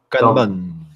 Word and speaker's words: Kanban: Et un truc que je vais utiliser cette année, alors je sais pas comment ça se prononce, hein, K-N-B-A-N, Kanban, je sais pas, Kanban. Kanban, c'est japonais.